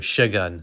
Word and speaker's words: Şengün: I think he pronounced his name Shagun.